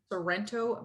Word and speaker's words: Sorrento: again sorrento lorento sorrento it's named after a town in italy so if you say it like you're italian you'll get it right it's in the shoe